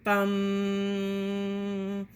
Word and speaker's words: vam: Chant its sound, lam, pronounce lum, lum, lum. At your sacral chakra, sound your sacrum, chant vam, bum.